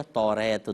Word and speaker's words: توریت: وہ اوصاف بتائیے جو تورات یا توریت دونوں اس کے تلفظ ہیں، کہ توریت میں جو